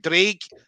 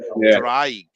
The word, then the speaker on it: Draig: I'd been saying Draig for so long, even to Ash Williams. I was calling it the pronunciation down to a T.